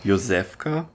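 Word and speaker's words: Josef K.: there are a lot of similarities beginning with Yosefka. Yeah. And in German you pronounce the name of the main character Yosef Ka.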